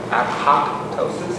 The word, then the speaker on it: apoptosis: the cytotoxic te- cell it induces apotosis I think I saw a video where they they pronounce that apoptosis apoptosis this is cell Death From